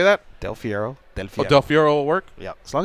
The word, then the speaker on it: Del Fierro: Goldberg or Rogan is pronouncing my last name so every time what they say I don't know what they're saying but it's Del Fiero Del you prefer him